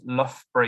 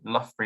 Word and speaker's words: Loughborough: And we have 2 of them in the name of our university. So Loughborough University is what we're called and how you say it.